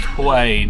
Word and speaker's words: Hue: The Hue de beer. It just switched to English and it's pronounced Hoi, not Hue, so I stand corrected.